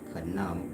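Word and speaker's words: Khnum: headed deity Kum some of you guys may have mistaken with the crocodile but canum KH h n u m this is your RAM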